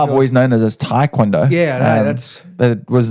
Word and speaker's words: taekwondo: you have had in your profession of uh taond yes thank you for the correct pronunciation yeah I was very very nervous to say it actually I don't know why I've always known it as taekwondo yeah that's but it was nice to hear